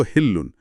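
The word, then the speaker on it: حِلٌّ: এরপরই আয়াত 2-এ বলা হয়েছে, ওয়া আনতা হিল্লুন বিহাজাল বালাদ, এর শুদ্ধ উচ্চারণ হল হিল্লুন, যার অর্থ এবং এই নগরীতে আপনার জন্য সবকিছু বৈধ বা আপনি এখানকার নিয়ন্তা।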